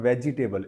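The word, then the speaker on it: vegetable: क्या बोलते हैं वेजिटेबल जी के बाद वाला ई जो है ना वो साइलेंट होता है तो ये प्रोनाउंस क्या कहता है वेजिटेबल और वो भी टेबल ना पढ़ के टेबल होता है वेजिटेबल क्या बोलेंगे वेजटेबल ठीक हम साथ में खाना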